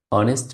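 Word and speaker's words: honest: যেমন এখানে প্রথম বাক্যটি রয়েছে আ অনেস্ট ম্যান। এখানে এইস এর উচ্চারণটা অ এর মতো হয়েছে, সো এখানে আমরা এ ব্যবহার করতে পারি না।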